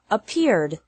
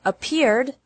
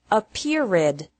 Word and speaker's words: appeared: The past of appear is appeared. Appear has two syllables, and appeared also has two syllables. Don't pronounce it appeared with three.